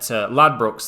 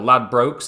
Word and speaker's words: Ladbrokes: you that you need to bet $42.60 at Ladbrokes there, or Ladbrokes, depending how you want to pronounce it.